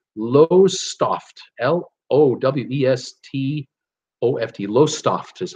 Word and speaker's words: Lowestoft: She says, I'm on the East Coast, a port town called, and it looks like it's pronounced Lowestoft, L-O-W-E-S-T-O-F-T, Lowestoft is how I'm going to say it.